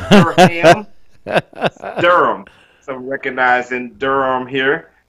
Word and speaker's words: Durham: We spell it D-U-R-H-A-M, but it's not two syllables. It's not Durham.